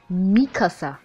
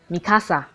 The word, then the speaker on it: Mikasa: Also, it's pronounced Mikasa. Not Mikasa.